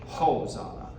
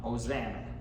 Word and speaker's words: Hosanna: Now, the Latin pronunciation would be Hosanna. We're going to say the H, Hosanna, but make sure it's Zana and not Hosanna.